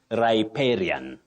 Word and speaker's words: riparian: R uhuh raran no riparian no you say riparian riparian land what riparian okay another one riparian that is the pronunciation Betty okay riparian land it is thank